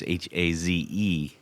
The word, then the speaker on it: Hayes: If you go to his website, it's Hayes Guitars, Haze Guitars. His name is spelled Hayes.